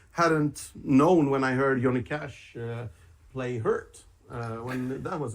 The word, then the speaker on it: Johnny Cash: in the states it's johnny cash over here it's pronounced the j is pronounced like a y in in europe that just cracked me up to hear yanny cash i like nine inch